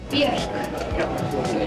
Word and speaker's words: Björk: Björk. Okay. It rhymes with Björk.